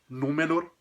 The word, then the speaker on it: Númenor: Fora isso, se não tivesse isso nessa sílaba, a gente teria uma palavra proparoxítona, ou seja, com a marca tônica, com a sílaba forte na antepenúltima sílaba. Como é o caso de palavras como Númenor, o nome da famosa